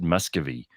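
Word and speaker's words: Miscavige: Church of Scientology David you spell it miscavage but people pronounce it Muscovy for harassment and defamation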